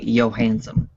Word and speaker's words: Johansson: I was gonna say I probably said your last name wrong, didn't I? No, it's you said it right. It's just that when she tries to describe how to say it, she tells people to say Johansson. Well, but I said a hard J instead of a Y.